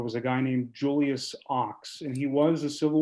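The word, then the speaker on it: Ochs: Ox, O-X.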